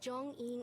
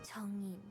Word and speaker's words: Zhong-Yin: There's a subtlety here to how they're pronouncing the J, because it's a romanization, and it's very authentic.